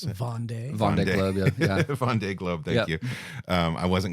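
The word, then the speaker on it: Vendée Globe: to participate in the first how do you pronounce it vond Von Glo yeah Von Globe thank you um I wasn't going to say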